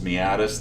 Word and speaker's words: meatus: of not for amen they are a meatus meatus that's how you pronounce it by the way a meatus is